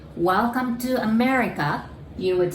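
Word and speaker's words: アメリカ: my neighbor country so we say america again or becomes l sound right america and new york my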